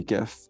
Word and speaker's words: GIF: presentation and it says you say it jeff with a j not a g and he just walked